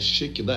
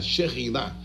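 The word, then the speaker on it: Shekhinah: Mas o homem usou duas palavras diferentes para criar essa palavra Shekinah, e a pronúncia nem é Shekinah, é Sherinah, Sherinah.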